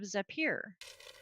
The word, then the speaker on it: Zapier: Um, have you heard of Zapier? Mm-hmm. Zapier. Sure, Zapier. That's what it is, Yes. Zapier, because it's a little Yes. Zapier.